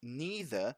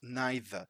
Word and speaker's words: neither: steal something these word neither you can also pronounce neither and it's the same with the other one either you can pronounce it either cheap both ways are correct right let's go see